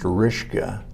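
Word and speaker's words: Ryszka: and that was from the Polish side of my family which is pronounced rishka that's what it's r-y-s-z-k-a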